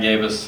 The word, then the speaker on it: Gabos: And he said, "And you forgot a Y after the A." And I was like, "Well, it's my last name." He's like, "You got gay in your last name." I was like, "Right, but you know, phonetically, yeah." And he I was like, "There's no Y."